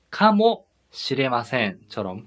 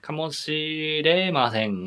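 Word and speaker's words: かもしれません: 발음을 할 때는 카모 시레마센처럼 카모에서 한번 끊어주시면 좋을 것 같아요. 이거 길어서 카모 시레마센 이런 식으로 하면은 약간 할 수도 있으니까 카모 시레마센.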